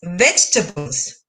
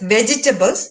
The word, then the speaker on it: vegetables: It is commonly pronounced as vegetables, but it is not. The right pronunciation is vegetables. The E in VGE is silent.